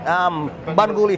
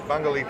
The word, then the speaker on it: Bungoolee: to Tunnel Creek Tours, see you guys at, pronounce it for me again. Bungoolee Tours. Bungoolee Tours. Of course, if you guys want to get on the website, it's Bungoolee, BUNGOOLEE.